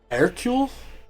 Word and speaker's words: Hercule: No, the her in Hercule is more like air, so it would be Hercule?